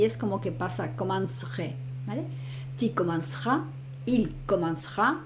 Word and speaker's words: commencerai: Entonces sería je commencerai. Piensa que la primera para la pronunciación sería como si dijera commence y luego aquí pronuncio el re. Pronuncio a partir de ahí la R con la terminación.